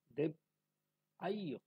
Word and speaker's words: দেবায়: আর এখানে দেবায়, বাংলায় আছে দেবায়, তা আমরা এখানে উচ্চারণ করব দেব আইয়, দেব আইয়।